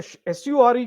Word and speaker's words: sure: So when the SURE comes, it is sure. Sure. SH, as if it is SHURE.